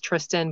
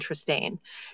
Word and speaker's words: Tristane: If there was one I thought it was Tristan, but he wanted Tristane.